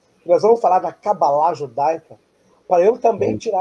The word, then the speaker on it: cabala: a pronúncia correta é cabalá, mas durante muitos anos falando cabala, a gente custa um pouco né? Então, às vezes eu falo cabala, às vezes eu falo cabalá.